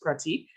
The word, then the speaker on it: Prateek: to work day um our guest today is pratik am i pronouncing that right yep that's correct um and